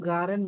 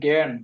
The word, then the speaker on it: gern: Hurs du garen music? নট গার্ন, আমি এতক্ষণ উচ্চারণ করছি জ্ঞান, আমার উচ্চারণ খেয়াল রাখবেন। নট গার্ন, জ্ঞান।